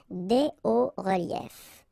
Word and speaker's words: hauts reliefs: because S and S, but then we don't pronounce them here. Des hauts reliefs.